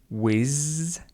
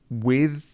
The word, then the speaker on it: with: Again, did you hear Kevin's pronunciation of the sound? He said whiz and he said earth. With and earth.